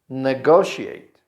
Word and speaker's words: negotiate: Negotiate. Negotiate. Again, here the stress is in go. Negotiate. Negotiate. And the final part of this verb is pronounced like she ate.